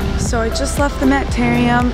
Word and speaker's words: Mapparium: Okay, correction. It's Mapparium.